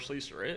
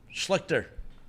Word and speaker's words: Schlichter: also just doesn't know who Art Schleister is. And that's fair. Never and also, heard of it's him. not spelled like Schleister at all.